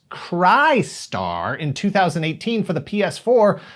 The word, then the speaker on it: Crystar: development and release of a game bearing the same title but pronounced cry star in 2018 for the